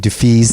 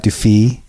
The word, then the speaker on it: Dufils: Poska, and Dufils, not Dufis, which I've been apparently fucking up for the last like 6 or 7 years. .com. Thanks, you guys. Thank you. So that was Dufils, you guys.